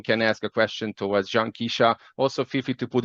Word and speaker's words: Janqueshia: Is it John V. first one or Janqueshia Stevens? I guess we have similar pronunciations. No, it's Janqueshia.